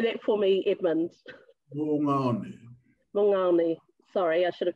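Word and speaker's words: Moʻungaʻone: and gosh, I do not know how to pronounce that word. Would you like to say that for me, Edmund? Mungaone.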